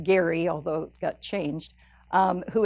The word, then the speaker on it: Gerry: governor Elbridge Gerry and it was actually pronounced Gary although it got changed